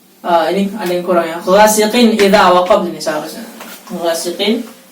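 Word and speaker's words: غاسق: Ghasiqin, qin, bukan qing, tapi jelas.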